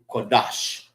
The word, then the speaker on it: Qadash: So, kadash, not quadash. All right. Cuadash is q a d a sh. Quadash. All right. Is um holy. Lan is tongue. Kadash. Kadash is holy. All right. This is Kadash.